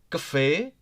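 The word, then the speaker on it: café: it's bit hard right Cafe Cafe look here in Cafe if you if you noticed give high stress on E because e has the cap right here a small one TP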